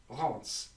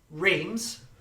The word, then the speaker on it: Reims: Pronounced Reims. So as in, it almost sounds like an N, the M, Reims. Is that correct? Sorry, what? Reims, up here, is Reims. The M is an N.